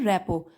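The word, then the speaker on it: rapport: रेपो रेपो was easy spelling देख लीजिए आर ए पी पी ओ आर टी इसको बोलते हैं रेपो बिल्डिंग मतलब बनाना रेपो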